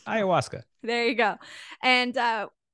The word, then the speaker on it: Ayahuasca: word it's a tricky word it's hard to spell it's hard to say Ayahuasca there you go and uh I was like